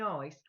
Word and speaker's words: Isa: Then the next one is Isa, which we would pronounce ice, basically.